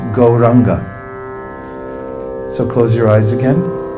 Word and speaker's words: Gauranga: It's 4 syllables, but it's pronounced Gauranga.